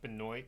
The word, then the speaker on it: Benoit: Benoit yeah it's pronounced it's uh spelled Benoit but pronounced Benoit he's one of my